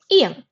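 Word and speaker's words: 아이: Okay, so in this case, the ing, it remains silent and you only pronounce the vowel. In the first syllable, the vowel is a, and in the second syllable, the vowel is e. So the word it's pronounced as I.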